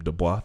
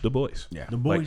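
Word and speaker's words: Du Bois: I learned recently cuz I was calling him dbah that it was actually pronounced the Boyce the boy like on purpose boy anyway uh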